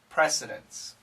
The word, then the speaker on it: precedents: story is it's difficult why is the T silent because of the n and the S the n and the S are strong sounds and they'll cancel this precedence all these and we